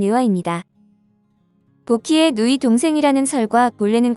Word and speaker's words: 女媧: 인류의 시조 격인 존재로 현대 표준 중국어 발음은 유화입니다 복희의 누이 동생이라는 설과